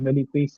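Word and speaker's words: Miletus: میلیتیس شہر ہے، میلیتیس، اس کو میتوس بھی کہا جاتا ہے، لیکن آج ہی میں نے چیک کیا تو یہ اصل میں جو انگلش میں لکھا جاتا ہے تو اس کے مطابق اس کا تلفظ میلیتیس ہے۔ تو میلیتیس کے شہر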